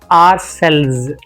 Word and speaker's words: ourselves: Like, maybe you can just pronounce this word alphabet R. Maybe you can CELL, cells. If you pronounce, if you just read it, how would you read? This is the way that they speak. R, just R. They don't even say our.